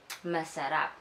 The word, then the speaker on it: masarap: So, in Filipino, when we like the food, we say masarap. Masarap? Masarap. Masarap. Yes! Oh, he has very good pronunciation.